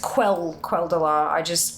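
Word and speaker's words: Quel'Delar: Kel who? Well, it's Quel'Dalar. I have a habit of pronouncing QU as a K.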